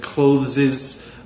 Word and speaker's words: clothes: And then pronunciation-wise, you said clothes. It's a little bit hard to pronounce. Combine the TH with the S, but it's an S, not an ES sound.